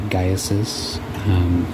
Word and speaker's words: Gaius: that I've said it, it is actually Gaius. That is one of the things that she taught me, Gaesis.